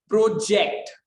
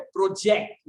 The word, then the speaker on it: project: These words are spelled the same. दिखने में same लगते हैं but are pronounced with different stress. Most are different parts of speech. तो यहाँ पे word है हमारे पास project. Look at प्रोजेक्ट. प्रोजेक्ट क्या है? वर्ब है. प्रोजेक्ट यानी जेक्ट पे हम ज्यादा वजन देते